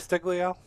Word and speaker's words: Castiglio: Castiglio. Yeah. We've had several people pronounce it different ways, so that's a difficult one.